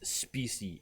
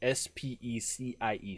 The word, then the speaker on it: specie: So there's a term which I'm going to use multiple times tonight called, the term is specie, S-P-E-C-I-E. Specie is the way it's pronounced, specie, and I have to try to say it that way.